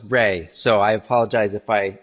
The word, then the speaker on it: Rai: And I'm stumbling over your name because it's spelled R-A-I. So my brain wants to say Rye, but I know it's Ray.